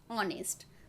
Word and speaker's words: honest: a consonant word but in this word h is silent and the pronunciation will